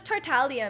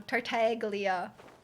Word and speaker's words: Tartaglia: So Tartaglia. I think people don't pronounce the G. Or you're technically not supposed to pronounce the G. But they mispronounce everything in the game, so you can't trust the in-game pronunciation.